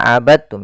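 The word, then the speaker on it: عبدتم: Hati-hati jangan dibaca abadtum ya, tapi langsung dimasukkan ke ta. Abadtum, bukan abadtum.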